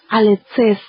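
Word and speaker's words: ἀληθής: La palabra que estos hombres emplearon al referirse al Señor como amante de la verdad viene de un vocablo griego que se pronuncia alexes, el cual proviene de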